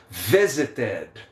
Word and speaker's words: visited: Quando os verbos terminarem com a letra D e com a letra T, aí sim o ED vai ser pronunciado como ED, beleza?